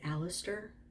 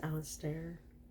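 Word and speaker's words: Alastair: it's it's spelled a-l-a-s-t-a-i-r i want to say aleister even though i think it's alistair anyway the leading man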